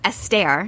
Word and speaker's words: Esther: you know what i used to call her esther pearl and you had mentioned that many people do mispronounce her name it's astaire that's right perel yeah and when she learned